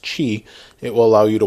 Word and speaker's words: Qi: have aqi charger or you also may see it as Qi but it's pronounced Chi it will allow you